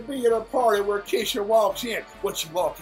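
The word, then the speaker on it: Kesha: Her name is pronounced Keisha.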